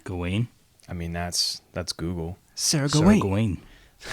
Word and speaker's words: Gawain: Gawain? Gawain? I mean, that's Google. Sir Gawain. Sir Gawain. But that's just the American pronunciation. What's the British one? Did they have ye old English? Gawain. Gawain. Sir Gawain.